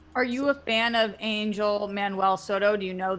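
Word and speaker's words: Ángel: I believe it's pronounced Angel.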